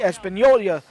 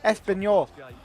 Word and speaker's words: Espanyol: The RCD Espanola. Espanola? The hell did I just say? Espanyol.